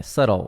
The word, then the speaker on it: subtle: Só que é subtle, subtle. Esse B não sai.